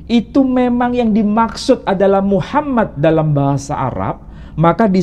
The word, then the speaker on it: Muhammad: Apa bahasa Suryani karena dalam bahasa Suryani menyebutkan mahamad mahamad Kalau bahasa Yunani menyebutnya mamed bahasa Suryani menyebutkan mahamad bahasa Arabnya menyebutkan Muhammad Apakah ini merujuk pada